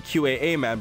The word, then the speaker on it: Qaaman: So, it's supposed to be QA man.